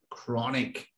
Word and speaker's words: chronic: long period of time is chronic chronic with a silent h in the spelling everyone uh what would